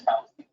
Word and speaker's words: Fauci: It's Fauci. Yeah, I know. Fuzzy, like the bear.